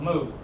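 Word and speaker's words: 木: Strokes like this hello in Mandarin it is pronounced moo but you hardly need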